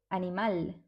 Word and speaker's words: animal: Okay, so Spanish words that end in al are stressed in the last syllable. For example, animal.